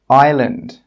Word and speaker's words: island: The letter S is normally not pronounced when it's before an L. Some example words are isle, island, isle.